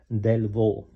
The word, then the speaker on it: Delvaux: Delvaux. The X doesn't pronounce.